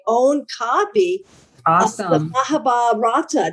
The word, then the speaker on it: Mahabharata: Of the Mahabharata. Did I pronounce it correctly? Mahabharata Yes, you did.